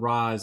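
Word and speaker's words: Ra's al Ghul: number 1 and yes I am gonna pronounce this race al Ghul as it is pronounced in the animated series I assume that's correct if it's not let me know oh he was called Roz in Batman Begins but I mean are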